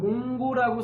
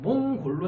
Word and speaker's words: 몽골: 또 몽골이라고 하는 발음이 어려워서 중국 애들이 몽고라고 붙였다고 합니다. 그래서 몽고라고 하는 거는 몽골 사람들을 무시하는 발언입니다. 그래서 우리는 한자로는 몽고라고 쓰긴 하지만 실제로 발음하거나 쓸 때는 몽골로 해야 됩니다.